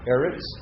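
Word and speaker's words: אֶרֶץ: challenge um you know erots how are you going to learn erots well it kind of sounds like the word arable to me arable land you know so that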